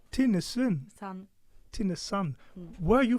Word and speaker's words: Tinnesand: Shirin Emily, did I pronounce it right? Shirin Tinnesand. Tinnesand.